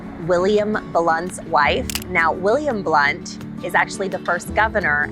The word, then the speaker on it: Blount: from the area okay blunt is spelled blount but it's pronounced blunt the other fact is